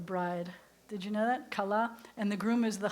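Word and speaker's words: כלה: How do you say bride? Kala. Kala is the bride. Did you know that? Kala.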